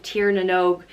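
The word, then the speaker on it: Tír na nÓg: Nev and she's come from the land of Tiernan oak and which means land of youth she's come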